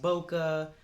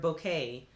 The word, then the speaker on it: bokeh: ever hear the term bokeh sometimes it's pronounced boca but mostly i've heard bouquet that is that they